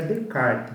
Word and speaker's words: Descartes: Descartes, né, escreve Descartes, nós vamos estudar ele, mas pronuncia Descartes, então é René Descartes, é um filósofo francês, nós vamos estudar ele agora na teoria do conhecimento.